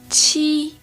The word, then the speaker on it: 七: Okay, now let's practice the letter Q followed by the letter I. Here again, the letter I will sound like a long E in English, or E.